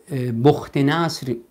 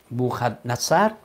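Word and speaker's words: بخت‌نصر: هست گفتیم که که بخت نصر به تلفظ عربی یا بوخ نصر در خواب دید که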